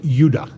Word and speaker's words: Judah: The 2 southern tribes were called Benjamin and Judah, more properly pronounced Judah, because we didn't get the harder sound to the J until about 200 years ago.